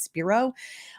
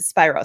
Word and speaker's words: Spiro: I want to pronounce it Alex Spiro. But I've heard people pronounce it Spiro. So I'm going to go with that.